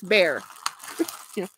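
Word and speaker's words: Bexar: called bear uh but it's spelled b x a r so a lot of people say bear but it's bear I keep okay this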